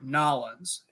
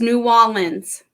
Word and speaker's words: New Orleans: ask you a question is it New Orleans or nollans and neither its new almonds New Orleans mm-hmm all